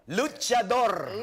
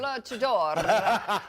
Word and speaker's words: Luchador: You have to roll your R, though. Luchador. Luchador.